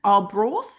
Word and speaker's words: Arbroath: He said that he came second in Arbroath. Is that how you say it? Yeah, Arbroath?